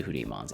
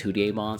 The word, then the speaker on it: Hudiemon: Also adding both their DPS to the Hudimons itself. Also throughout this entire video I'm going to say probably Hudimon or Hudon. It's because of the Japanese pronunciation is Hudon.